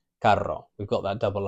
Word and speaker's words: carro: So some examples of these, we've got carro, it's a hard C sound, ca, carro.